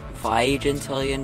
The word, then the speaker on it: vigintillion: you guys think uh actually it's pronounced 500 million by gentillion dollars uh 10 contestants one